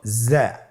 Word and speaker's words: জ্যা: উচ্চারণ করার সময় অবশ্যই এক আলিফ টেনে পড়তে হবে, এক আলিফ টেনে পড়তে হবে।